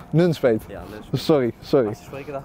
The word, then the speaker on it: Nunspeet: Het is Nunspeet, je legt de klemtoon. Nunspeet? Ja, Nunspeet.